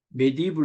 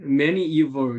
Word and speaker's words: medieval: 이게 이제 우리는 이 단어를 메디블 이렇게 읽고 싶잖아요. 근데 우리 교수님이 이걸 꼭 medieval 이렇게 읽으시다가 D 발음이 거의 안 나게 D 발음을 N 발음 비슷하게 medieval church.